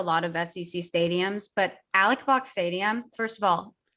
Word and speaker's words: Alex Box: It's spelled Alex Box. It's Alec Box. Anybody who pronounces it Alex is incorrect.